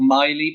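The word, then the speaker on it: Maile: look weird so that his assistant's called Miley but it's spelled m-a-i-l-e uh and there's a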